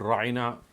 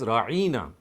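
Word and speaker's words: راعنا: word Reina means but what the Jews would do is they would slightly lay more stress and they would pronounce it as rarina I mean they are very close in their pronunciation you can just stress this one syllable and make it into a new word now the word means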